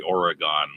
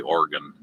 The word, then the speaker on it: Oregon: bigs Junction organ I'm trying not to say Oregon which is what I always preferred to say